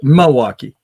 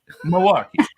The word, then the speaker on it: Milwaukee: Milwaukee never put the L in it right Milwaukee Milwaukee I actually learned how to say it after